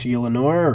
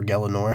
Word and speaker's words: Gielinor: It's your job to nurture and protect Gielinor, or Gelinor, however you want to pronounce it, which is essentially, the